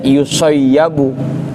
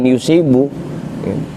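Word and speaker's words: يُصَيَّبُ: Maka jika mereka terluka bitasdidil yail mafthati dengan dibaca tasdid huruf ya yang difathahkan. Makanya bacanya yusayyabu gitu ya. Yang kedua tuh tasdid dan difathahkan. Iya sama di sini gua tulisan pain yusibu cuma karena ngikutin penjelasan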